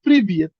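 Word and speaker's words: Привет: যায় তাহলে একটু বুঝতে পার এবার বিষয়টা হল প্রিভিয়েত আমার এইভাবে তখন আপনারা পড়া ওয়ার্ড যখন শিখবেন তখন দিয়ে পড়তে পারবেন এইযে বাংলা উচ্চারণ দেয়া আছে প্রিভিয়েত প্রিভিয়েত মানে কি হাই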